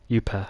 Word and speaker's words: Juppe: Actually in Finland they say the name differently, but I have been comfortable with that name, how they say it.